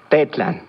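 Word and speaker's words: tetlan: tetlán escuchaste con atención pet land recuerda que en el aguas las palabras se acentúan en la penúltima sílaba de plan muy bien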